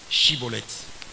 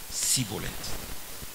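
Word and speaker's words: shibboleth: Il y a un mot que les Ephraimites ne vont pas prononcer. Chibolette. Bon, on va prononcer ça Sibolette.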